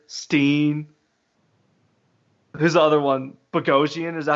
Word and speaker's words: Bogosian: Bogosian, is that how you say it? Yeah, Bogosian.